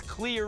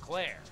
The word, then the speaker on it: Clear: character from Parts one her name was clear Rivers not Claire I was never saying it wrong she just had a dumb name hunt gets into a